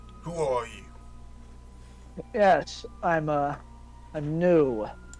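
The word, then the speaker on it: Nue: Yes, I'm new. My name is actually New, but it's spelled N-U-E.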